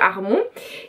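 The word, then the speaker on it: Harmon: d'Amy Hermon, enfin bref, je voulais le prononcer à l'américaine mais c'est un peu raté, donc on va dire Armon.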